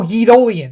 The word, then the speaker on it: Yeetolian: Forgot to say, but my name is just pronounced like Napoleon. Oh, okay, gotcha. But with Yi at the beginning. So, oh, Yeetolian.